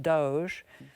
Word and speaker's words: DOGE: department of government efficiency which we have now learned is pronounced Doge um in the last